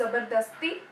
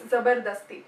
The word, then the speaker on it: zabardasti: Is that how you pronounce Zabardasti? Okay, it's Zabardasti.